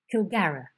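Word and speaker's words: Kilgharrah: and the dragon, the great dragon, and you pronounce the name of the dragon Kilgara.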